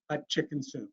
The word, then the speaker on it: Hatshepsut: And he goes, well, when you have a hard time doing it, just say Queen Hot Chicken Soup.